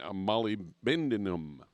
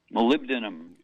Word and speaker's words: molybdenum: copper manganese chromium and molybdenum molybdenum there there that's the right way to say it you can use it for sure you can call it molly a lot of people